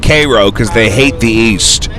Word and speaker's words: Cairo: we have CU Missouri there's a Koo Illinois which is spelled like Cairo but they they call it Koo cuz they hate the